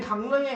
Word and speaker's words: 강릉: 이번 방학 땐 강릉에 가서 강릉이라고 해? 강릉이라고 해? 강릉. 리을이 니은으로 바뀌었으니까 뭐야? 비음의 영향을 받았으니까 비음화.